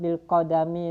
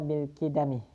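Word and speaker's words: بِالْقِدَمِ: Kaifa itiqad bil qadami lillahi subhanahu wa ta'ala. Kaifa iku hale kaya apa, bagaimana? Al-itiqadu utawi itiqad bil qidami. Di sini bacanya bil qidami.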